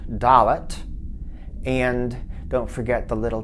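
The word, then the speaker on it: דלת: That's your D sound, Dalet.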